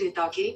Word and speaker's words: Ithaki: The initial I makes a long e sound.